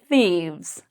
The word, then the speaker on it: thieves: The F changes to a V, and we have an S, or an ES. So the pronunciation of this word is thieves.